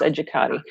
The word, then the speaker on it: Educate: edu CA te comm and educate is my last name pronounced educator beautiful okay everyone stay